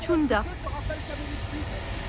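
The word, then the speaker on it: Cunda: Alors ça s'écrit Kunda, ça se dit Tunda.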